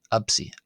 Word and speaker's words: ⲉⲯⲓ: Uh in in keeping with how I was pronouncing the letter p previously uh as a b instead of a p absy absy. Uh however there's nothing wrong with pronouncing it uh as absy either.